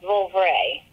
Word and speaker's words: Vouvray: But Vouvray is another good wine from France. It's spelled V-O-U.